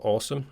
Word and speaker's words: Aosom: The desk itself is made by a company called Awesome, spelled AOSOM, I think that's how you pronounce it anyway.